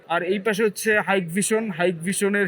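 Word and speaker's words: Hikvision: এই পাশে হচ্ছে হাইকভিশন হাইক ভিশনের হিকভিশন বললে পরে জরিমানা হয় সঠিক উচ্চারণ হচ্ছে হাইকভিশন হাইকভিশনের প্রোডাক্ট হিউজ হাইকভিশনের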